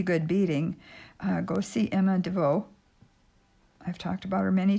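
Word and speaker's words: Devost: beading go see emma devoe i've talked about her many times and that's what her channel name is emma devoe d e v o s t you don't pronounce the s with the t okay so i've got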